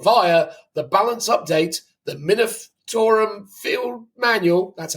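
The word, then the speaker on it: Munitorum: by Games Workshop via the balance update the minum field manual that's how you say it and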